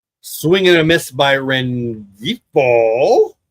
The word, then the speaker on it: Rengifo: Swing and a miss by Rengifo. Don't think the G is pronounced, but I did.